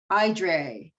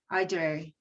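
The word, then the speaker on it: Éire: for aaron in ireland it's e-r-e-i-r-e and it's pronounced edre aydre aydre so um she is another goddess that if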